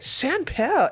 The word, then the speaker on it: Champale: in the upper class you're like chanpelle are you tree are you mispronouncing champagne sweetie no their girlfriends they would